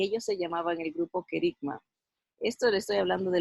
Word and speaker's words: kerigma: con ustedes aquí lo tengo así así se pronuncia la palabra kerigma vamos a leer el concepto kerigma ok eeuu